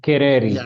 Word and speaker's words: Kereri: So I reached out and I was uh connected here with uh uh Carreri. Is that how it's pronounced? Yes, Kerreri.